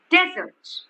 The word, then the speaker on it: desert: have same spelling okay but when i say desert i am stressing on this okay desert okay then it means okay then it means a dry place it means a dry